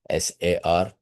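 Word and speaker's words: SAR: So the right way to say it s a r this is what your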